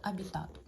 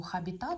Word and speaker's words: Habitat: колоди метафоричних асоціативних карт абітат Саме так правильно її називати ви могли почути назву хабітат але це невірно це з латинської з латинського слова абітари що означає проживати жити і ось ця літера не читається тому правильно називати колоду абітатор Отже це колода класична